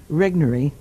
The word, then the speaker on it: Regnery: trashing the planet is put out by they pronounce it regnery Regnery gateway yes where are they located here